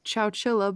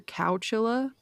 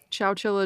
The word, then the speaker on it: Chowchilla: have to say that pronouncing Chow Chilla is really hard because I keep saying either cow Chilla or chinchilla which are both very wrong so yeah if you